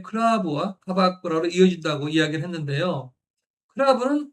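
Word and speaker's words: クラブ: 클라브는 클럽의 일본식 발음으로 한국의 아 10%와 영역 방식이 비슷하고요.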